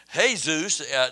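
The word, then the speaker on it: Jesús: who who are named hey-zeus that they named a lot of the spanish people name their sons hey-zeus they're not Jesus they just have a name that spelled the same way but they're not Jesus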